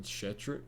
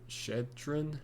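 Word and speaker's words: Shettron: then four-star wide receiver taylon shetter shedtren i believe is how you pronounce it he should come and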